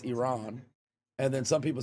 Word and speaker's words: Iran: Iraq, Iraq, because some people say I um Iran, which is wrong. It's Iran.